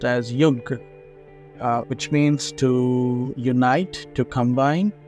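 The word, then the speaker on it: yuj: uh in English letters it's Yu J it's pronounced as yug uh which means to unite to combine to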